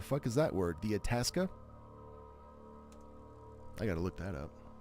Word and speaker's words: Itasca: When you don't know how to pronounce shit. Itasca?